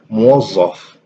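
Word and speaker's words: موظف: in the writing, but the pronunciation is a bit different and it's closer to ze. So in a word like muwazzaf, this would actually sound like muwazzaf, which is more like a z than a that.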